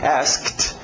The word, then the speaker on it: asked: passado é Ed regular só que o pronúncia é só de um t por isso que eu coloquei em parênteses bom asked ok e em parênteses eu coloquei a pronúncia mais comum ainda sem o k asked as ninguém vai perceber que o cas está faltando agora observem que é